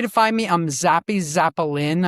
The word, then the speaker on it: Zapolin: Um yeah, best way to find me, I'm Zappy Zapolin. I say my name like a violin, like Zapolin.